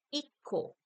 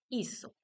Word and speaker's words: hizo: persona del singular, él, no decimos o no se escribe con la letra C porque cambia el sonido, diríamos ico. Para mantener el sonido, cambiamos la C por una Z. Él hizo.